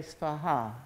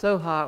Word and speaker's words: Svaha: Tare Tu Tare Ture Svaha. So it's Om Tare Tu Tare Ture Svaha. And so it begins with Om and ends with Svaha. And Svaha is sometimes pronounced Soha or Soham, and it's a little